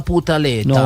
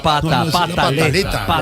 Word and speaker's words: pataleta: Porque uno cuando llega a cierta edad Por todo arma una putaleta. No, señor, pataleta. No, dijo putaleta. No, Sí, pero se equivocó, Tarcisio. Usted sabe que así no se dice.